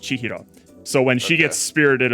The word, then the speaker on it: Chihiro: And then these two characters here together are pronounced chihro.